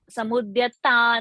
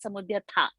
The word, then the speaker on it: समुद्यता: Samudyata, not Samudyatha.